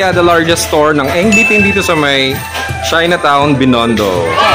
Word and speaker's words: Eng Bee Tin: So ayan, we are currently at the largest store ng Engditin dito sa may Chinatown Binondo. Na-pronounce ko ba ng tama? Nope! Engditin.